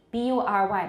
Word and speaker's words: bury: However, 倒有一个特别的 bury, B-U-R-Y 埋葬，在滨州一带念 bury 不念 bury，这是值得记下来。